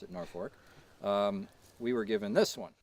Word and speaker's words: Norfolk: So we had this one for years, but since we are in Norfolk, Connecticut, I pronounce it Norfolk, we were given this one.